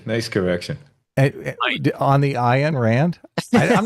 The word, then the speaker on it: Rand: On the Ayn Rand? I'm not sure I know how to pronounce it, to be honest with you.